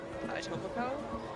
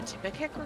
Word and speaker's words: Etobicoke: 5-minute drive from me, Etobicoke, which is in the GTA. yes. And this guy doing the documentary pronounced it a Tippecanoe or something like that, or something stupid like that.